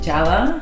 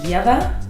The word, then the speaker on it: Ieva: like Lea or yava I've I've gotten like Java like software see there's also beer yes no but it's pronounced yea so and you're from Lithuania okay you know